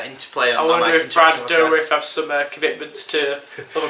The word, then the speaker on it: Dourif: Brad Dourif, that's how you pronounce it.